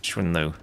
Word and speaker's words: XuanLv: It's pronounced XuanLv.